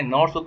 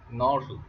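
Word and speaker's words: Knorr: आप लिख सकते हैं class नॉर सूप, ANORR, नॉर सूप, ठीक है। के साइलेंट है इसमें।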